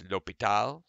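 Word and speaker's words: L'Hôpital: accent over the o the S is silent either way you say it it's lopital and he uh the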